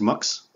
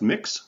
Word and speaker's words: Mx: that's all and so mx right pronounced mux quite often right uh it's simply